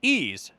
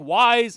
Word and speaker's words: Ys: And that that that video game series is ease y uh apostrophe s. It looks like wise. It looks like y is. It looks like eyes, but it's pronounced ease.